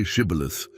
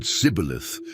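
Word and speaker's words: Shibboleth: The difference in pronunciation was subtle, just the initial consonant, but it revealed a speaker's regional origin. The Ephraite said cibilith, lacking the esh sound.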